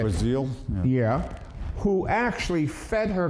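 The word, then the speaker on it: Brazile: what about Donna Brazil Brazil as how you say it was ill yeah who actually fed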